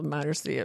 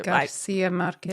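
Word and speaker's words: García Márquez: long time, um, this great work by Gabrielle Marcia, Garcia Marquez, Garcia Marquez. I can't pronounce things.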